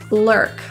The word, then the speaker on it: lurk: night lurking his Instagram the you are is pronounced as like an ER pronunciation just ER curling your tongue for the r making sure it doesn't touch the roof of your mouth ER low-key this means to